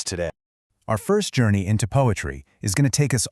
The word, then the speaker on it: PoAItry: And this brings us to the core idea of what we're doing here, poetry. Yep, it's pronounced exactly like poetry, but it's poetry seen through the illuminating power of AI.